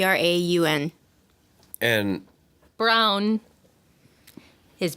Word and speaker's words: Braun: Brown I think you wear many hats Ron Brown you like to say Brown yep okay that's why we pronounce it around these parts mm-hmm where do